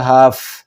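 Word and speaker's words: هفت: لیکن جس وقت آپ یہ لفظ ادا کریں گے تو جس وقت تے پر آپ کا پہنچے گا تلفظ تو وہاں آپ اپنے لہجے کو دھیما کر لیں گے تو یہ ہوگا ہاف. تے کو پوری طرح آپ ادا نہیں کریں.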